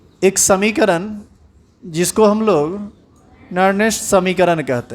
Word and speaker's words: Nernst: इसके लिए आपको पढ़ना पड़ेगा एक समीकरण जिसको हम लोग नर्नेस्ट समीकरण कहते हैं। हालांकि इसका प्रोनाउंसिएशन हिंदी में थोड़ा अलग है और इंग्लिश में हम लोग इसको नर्स्ट इक्वेशन पढ़ते हैं।